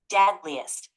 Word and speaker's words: deadliest: It's pronounced deadliest. The stress is on the first syllable.